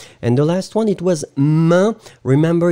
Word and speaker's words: main: And the last one, it was main. Remember, it's a tricky one. A-I-N, or then E-I-N, you pronounce it like un. Main, main, main, main.